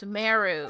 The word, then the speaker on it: Sumeru: many things in these lands that's what it's pronounced suu there's a unique type of anomaly that occurs